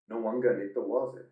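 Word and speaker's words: Nawaqanitawase: And here's how you pronounce it. Let's hear from the man himself. Nawangani-Tawase.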